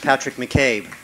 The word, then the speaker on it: Patrick McCabe: name is Patrick McCabe that is spelled capital patr I seek a space capital M C capital C a B II pronounced Patrick McCabe there are other people